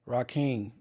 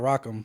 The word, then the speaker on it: Rock: Rake, not rock. Well, it's spelled R O C K. Rake should be R A.